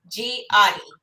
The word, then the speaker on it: Gehati: The H is silent. The So H is the silent. Gehati.